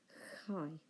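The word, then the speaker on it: χ: It transliterates into English as CH, but whereas in English we pronounce it a ch sound, in Greek we should pronounce it more of a ch, rather like the CH in the word loch, for example. So not a ch, but a ch.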